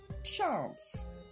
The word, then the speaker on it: chance: 4e mot, chance. On regarde sa prononciation. Chance. C'est le même A que dans they are ou car.